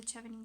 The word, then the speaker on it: Chevening: to your country, no problem, go for the Chevening scholarship. It's actually pronounced But Chevening.